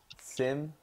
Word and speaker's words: sim: say try and say if you try to say sing without the last g-sizzle no no no that won't work same yeah that's right sure thing ever Sim Sim Sim the second one the second one sin yeah although you are pronouncing the em a little bit but that's okay